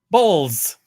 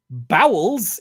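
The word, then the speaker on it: Bowles: it Jason bowels um his name is spelled b o wle s bows bowels is something else entirely this is why you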